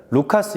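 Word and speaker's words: Λουκᾶς: 면 바로 누가 입니다 사실 누가 의 원래 헬라어 발음으로는 루카스 이고요 영어로는 로크 입니다 우리말로는 발음하기 쉽게 누가 로 이름 하였습니다 누가는 이방인이 어떤 되어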